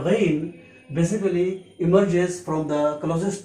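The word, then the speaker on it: غين: Its pronunciation in English is G-A-Y-N, Ghain.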